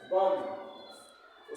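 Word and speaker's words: bomb: क्या है B select B का प्रोनंसिएशन नहीं होगा जैसे बी ओ एम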